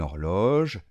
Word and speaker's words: horloge: Faites attention, la lettre R se fait à ce niveau-là en français comme des gargarismes. Or, horloge. Finalement, attention, rappelez-vous, on ne prononce pas le final, par contre on entend un j.